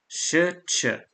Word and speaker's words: Shch: The S is pronounced like sh as in shy, and the C is pronounced like ch as in child. Shch.